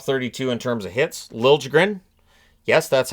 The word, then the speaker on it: Liljegren: Liljegren. Yes, that's how he pronounces it. Liljegren.